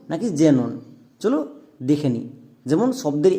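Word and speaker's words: xenon: তাহলে আর একটি এক্সাম্পল দেখো, এই ওয়ার্ডটার উচ্চারণ কি হবে? অ্যাক্সনন নাকি জেনন?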